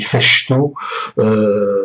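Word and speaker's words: Fejtő: François Feuilleteux, je vous le prononce à la hongroise, c'est écrit Festó.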